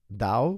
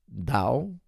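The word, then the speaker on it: TAO: But it's pronounced DAO, but it's spelled T-A-O. So T as in Tango, A as in Alpha, O as in Oscar. Now, guys, I'll tell you something. DAO, which is spelled T-A-O, also known as BitTensor.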